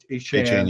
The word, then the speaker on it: Etienne: this feeling that we're shutting down Tyreek Hill, Etienne Etienne.